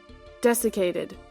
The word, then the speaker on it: desiccated: pet you'll have a third choice available stealing desiccated P I have to look up how to actually pronounce this desiccated desiccated okay so stealing desicated pages from the Royal Titan spell book on